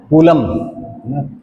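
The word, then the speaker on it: coulomb: बेटे पहला क्वेश्चन, ऐसा unit of charge is कूलम। कूलम कूलाम कहते हैं वैसे इसको, सी कूलाम कूलम व्हाटएवर यू से प्रोनाउंस इट।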